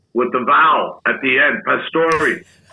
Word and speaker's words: Pastore: vow at the end Pastor like a Sante so daddy said it's Pastor he dropped the E he didn't take the E away but he never pronounced it again and they didn't teach